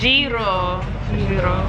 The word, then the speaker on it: gyro: How do you say it? What is a garlic? Como eso? Ah, gyros. Giro. Okay.